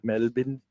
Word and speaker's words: Melbourne: Pronounced Melbourne. Melbourne.